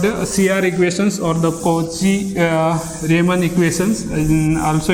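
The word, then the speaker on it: Cauchy-Riemann: cr equations or the koji uh raymond equations and also it is pronounced as a cosi rayman equations so uh there are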